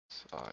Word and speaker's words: Psyker: That's spelled Psyker. like 40k Psyker. Siker. Oh. Not PSI?